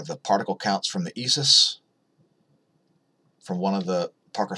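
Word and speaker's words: ISʘIS: It's pronounced ESIS, yes, I know. I don't know why it's not ISOIS, but whatever.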